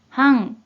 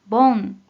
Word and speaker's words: 煩: 음으로는 半、半、 또는 盆、盆。 이라고도 발음해줘요.